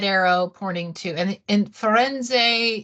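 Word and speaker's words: Firenze: poting to and and foren is the Italian way of saying Florence so you're in Italy so say it like the Italian foren and here get your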